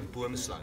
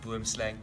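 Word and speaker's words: boomslang: And this is actually a boom slung. So boom comes from the word tree in Afrikaans. I know a lot of the Americans, you guys will pronounce it boom slang, so I'm stealing a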